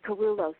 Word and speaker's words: Kerulos: It's Kerulos Center for Nonviolence.